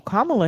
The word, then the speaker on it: Kamala: Am I saying her name wrong or something? I I don't know who that it is. You don't know who that is? No. Okay. I know who Kamla Harris is.